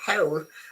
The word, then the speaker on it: hole: These two words, I'm stating a fact, are they homophones? Yes. New and new. This one, if you know that this one is completely silent, so new and new. And so the same reason you know that this one is completely silent. And so whole and whole are pronounced exactly the same way.